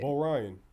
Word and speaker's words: B0ryan: Bo Ryan.